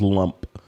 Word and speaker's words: Lamb: The next shot is from Lamb. Sent us an email with the correct pronunciation of his name, and he said his name is pronounced like what sounds like in English as lump.